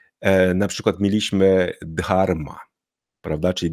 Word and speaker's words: Dharma: TH i tak dalej nie jest to ten dźwięk Jak w angielskim tutaj bardziej chodzi o to że mamy dźwięk d k i tak dalej